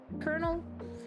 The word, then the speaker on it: colonel: what's what's called called Colonel I cannot understand okay why is Colonel pronounced colonel where's the r in there like I'm so confused